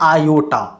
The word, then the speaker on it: iota: ऐसे इसको हम लोग कभी कभी टाई के उच्चारण के नाम से फिजिक्स में देखने को मिल जाता है, लेकिन ये उच्चारण होता है आयोटा।